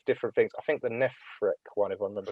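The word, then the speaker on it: Nephrek: How do you pronounce that again? Is it Nephric? Nephric, yeah.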